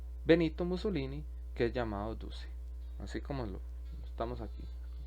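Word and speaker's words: Duce: mussolini que es llamado dulce así como estamos aquí lo pronunció como está escrito en italiano ahora cuáles son las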